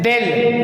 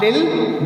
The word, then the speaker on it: they'll: Or they plus will, del, not dil but del. It is rather pronounced del.